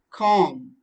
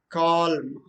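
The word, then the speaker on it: calm: okay so for example c a l m com but you think you don't know that it is ali silent then you simply say that call then use right that's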